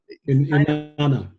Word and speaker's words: Inanna: Like I think somewhere I remember you talking about transgenderism and how the god Inanna, I think is how you say her name. Inanna.